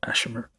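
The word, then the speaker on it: Asshimar: Ashimmer.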